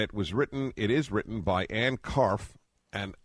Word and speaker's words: Karpf: is written by Ann Karpf, and the P is not pronounced, correct? Well, the P actually is pronounced, but I answer to almost anything, so no, I want to do the correct thing.